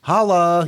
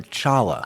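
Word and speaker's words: challah: Is that holla or chala? It's pronounced holla, but it is spelled with a C.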